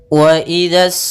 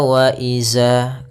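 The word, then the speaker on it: وإذا: Wa idzas samaa'u furijat. Pada lafal wa idza, hati-hati dalam melafalkan zalnya, jangan dibaca wa iza. Ini kesalahan yang sering terjadi, yaitu mengganti huruf zal dengan huruf zai.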